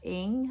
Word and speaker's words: Ng: And that book was Our Missing Hearts by Celeste Ng. I think it's Ng is how it's pronounced. It's spelled Ng.